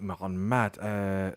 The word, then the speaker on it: معلمات: But the plural marker helpfully takes the stress.